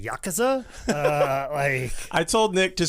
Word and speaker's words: Yakuza: Just say it with confidence, much like everybody said Yakuza for years, and then turns out it's the Yakuza.